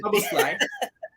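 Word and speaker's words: Szoboszlai: Apart from the spelling, it's not as hard to pronounce as you think. I went on there's a page that it says this is I think the Anfield rap did this is how you pronounce it, and don't worry about the Z.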